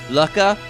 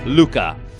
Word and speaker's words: Lucca: it could be pronounced lucky' but if you check the japanese version her name is spelled with a loo a small su which is silent and a cup so the intended pronunciation is Luka and I think the